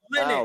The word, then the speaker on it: Linux: He says it's pronounced Linux. Therefore, it's pronounced Linux.